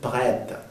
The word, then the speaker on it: prête: Nuevamente, sonido E abierto, prête.